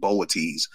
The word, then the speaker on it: Boötes: They pronounce it Boötes, but it's spelled Boötes.